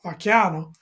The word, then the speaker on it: Vacchiano: no, you pronounce That's that it. beautifully. Ralph Vacchiano.